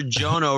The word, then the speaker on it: Jono: So Sir Jono rhymes with Bono. So then it's Sir Jono.